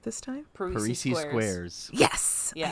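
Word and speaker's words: Parrises Squares: Parisi Squares.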